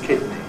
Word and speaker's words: kidney: Many people have difficulty pronouncing sequences like in or the as in kidney. Kidney should be like under but the other way around.